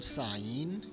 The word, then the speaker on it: sign: Letter G can be silent if it comes before N. For example, sign, design, foreign, or H.